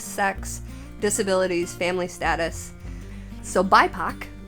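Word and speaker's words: BIPOC: important with race sex disabilities family status so bipac b i p o c is an acronym for black indigenous and people of color so it's pronounced bipac I had to look that up this diversity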